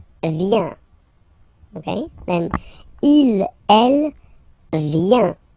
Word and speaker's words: vient: Okay, then il, elle, vient. Final T not pronounced.